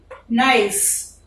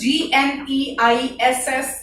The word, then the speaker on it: gneiss: For example, granite, when it turns into gneiss, this is Gneiss, G is silent here, gneiss.